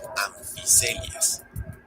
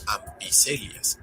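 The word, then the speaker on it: Amphicoelias: Por ejemplo, en que se pronuncia como anficelias. Si lo notaron, no lo leí como ampicelias, y es porque se vienen otras reglas de pronunciación. Por ejemplo, PH se pronuncia como una F suave.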